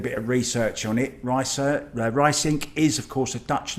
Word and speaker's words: Ruysink: The I is a very specific sound. Our language is never. So all the Americans say me Ruysink, an ow or an oi, but it's Ruysink.